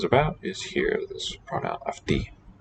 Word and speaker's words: αυτή: And then the subject, that which the sentence is about, is here, this pronoun αυτή. The vowel letter for ancient U is here pronounced as an F, αυτή.